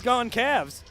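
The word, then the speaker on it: Gonçalves: His last name is spelled G O N C A L V SP. pronounced but Gavin I said gone Caves with the way he was able to resist he's gone Cavs he's gone Cavs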